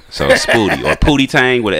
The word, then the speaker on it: Spooty: But after that, it's Spooty. Like booty, but with a P and an S in the front. So Spooty or Pootie Tang with an S in front.